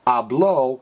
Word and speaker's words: habló: on 11 and 12 the accent mark actually does change the uh pronounce a little bit ablo with an accent mark means he spoke okay now the way